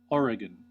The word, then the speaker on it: Oregon: Oh, I want to hear how they think Oregon is pronounced. Oh, that's just like an image. Where is this taking me? Oh, here we go. Here is Wikipedia's pronunciation. Oregon.